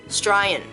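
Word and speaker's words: Straya: Australian. We don't pronounce the Oz part, we just go Australian.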